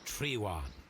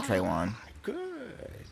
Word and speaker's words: Trewan: Our God King's name is Trewan, Green Grand Mystic. I was pronouncing it like Trayvon.